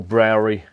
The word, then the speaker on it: Brauerei: the abk action brewery or browari as they say in germany i'm getting pulled up